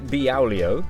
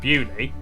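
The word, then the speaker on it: Beaulieu: Starting in Biaulio, Bewley, head over to Rampisham, Ransom, then down to What?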